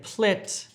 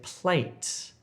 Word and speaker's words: plate: Don't say plet if you're trying to say plate.